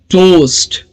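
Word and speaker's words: toast: टोस्ट, फिर से OA combination वाला वर्ड है, तो स्पेलिंग्स में 5 लेटर्स है लेकिन साउंड सिर्फ 4 ही होंगे, तो जब इसको आप प्रोनाउंस करेंगे तो टोस्ट, टोस्ट, ओके, ट ओ स्ट, टोस्ट।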